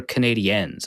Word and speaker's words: Canadiens: to name its hockey team the Canadians or Canadiens? How am I supposed to pronounce that? Well, Canadian ends with the E is just a French pronunciation, so it's like Canadien, but we just say Canadians.